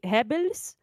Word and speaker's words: Goebbels: Wait, how do you pronounce it? Yes. We say Hebels. They say just Goebbels, Hebels.